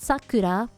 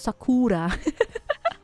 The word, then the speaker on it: Sakura: was card cart kepor Sakura cart kepor Sakura Sakura Sakura the emphasis is on the wrong part that's oh Saku Sakura it's not Sakura Sakura it's Sakura yeah cured capture flashback